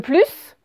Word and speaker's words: plus: Si je dis « j'en veux plus », eh bien, là, on le prononce.